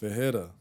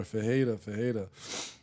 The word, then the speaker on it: Fuhhrare: off my last name, because where I'm from, like where my family's from, is pronounced Fuhhrare or Fuhhrare. So Okay. just having that distinction of, the way that it's pronounced here, even though it's not the correct way, it's still Goddamn kind of white stuck.